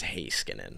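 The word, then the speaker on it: Heiskanen: swap out slaven for high skin I was gonna say High School yeah sorry his name wrong right I believe it is hay Skinner yeah yeah yeah you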